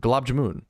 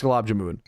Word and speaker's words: Gulab Jamun: Okay, but from my understanding, it's Gulab Jamun.